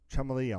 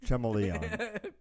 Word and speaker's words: Chameleon: of course you get Neo chrome and spy Chumlee on on PlayStation Vita trim William it's pronounced chameleon chameleon it's pronounced chummily according to people I